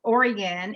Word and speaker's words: Oregon: So yes, Oregon is the correct way to say it.